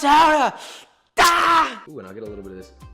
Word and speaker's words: Gouda: It's pronounced Hara.